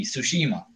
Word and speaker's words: Tsushima: read a lot Japanese you don't pronounce the T Tsushima go Tsushima soshi mom and that